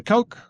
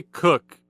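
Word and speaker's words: Koch: Uh, Christina Coke I don't know how to say her last name. They say cook at mission control.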